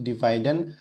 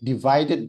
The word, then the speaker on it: divided: dividen by two H bacanya bukan dividen bukan pakai N tapi D divided by coba divid eh